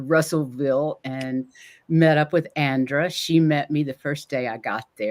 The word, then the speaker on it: Andra: for joining us and you pronounce it Andra right Andra and and not a and d like I want to